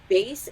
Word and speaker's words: bass: a book on music make sure that bass is pronounced Bas and you may have